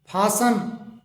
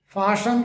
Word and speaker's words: fasten: इसी तरीके से FASTEN, इसे फासन, फाशन करके बोला जाता है।